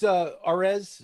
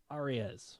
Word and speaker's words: Arias: But Luis Arez, I think I said it right. I think it's Arias. Arias.